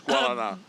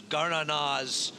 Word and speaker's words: Guaraná: She ran Guaraná to a length in the CCA Oaks last year. It's Guaraná.